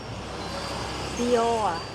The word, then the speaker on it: Dior: Get I'll buy you some expensive Dior whatever the hell they are. How do you say that? Dior. Dior.